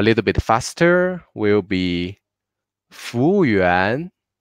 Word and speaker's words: 服务员: A little bit faster will be 服务员 In Chinese, if there are a word formed by 2 pinyin, 3 pinyin, or maybe 4 pinyin, we will only put the stress on the last pinyin with tone mark. So in the word, we have a 服务员 here. Yuan is the last pinyin with tone mark. So we will make yuan with a little bit more stress.